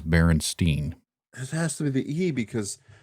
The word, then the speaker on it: Berenstain: I kept saying Steen. Steen, ST. Yes. Well, it's spelled Stain, Berenstain, but everyone has referred to them as Berenstain.